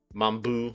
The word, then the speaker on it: Mamboo: tone to it because you have to pronounce the boo stronger mamboo I guess you can say